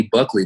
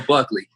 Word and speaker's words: Buckley: then it was uh they gave me buckley but i've been screaming let's go buckle for a minute now so i guess i've just been saying his last name wrong so let's go buckley it's kisman this is